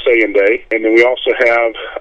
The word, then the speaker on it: Saynday: And Saynday is spelled S-A-Y-N-D-A-Y, Saynday. Saynday.